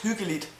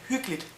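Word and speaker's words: hyggeligt: and it has been cozy actually when you pronounce hulit the way it is spelled and as you should pronounce it it is called hulit but in normal day-to-day speak uh we just say hooklet we simply skip uh an e really h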